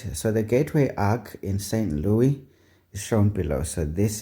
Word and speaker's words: St. Louis: Yes, it's St. Louis, not Louis.